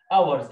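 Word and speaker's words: hours: بعد كده سليب لونج اي، الاي اي بتعمل لونج اي، 4 لونج او، 8 اورز، الاتش هنا سايلنت، وقلنا فوق الاو يو بنطقها او، يبقى اورز، سليب 4 8 اورز، نام 8 ساعات في اليوم.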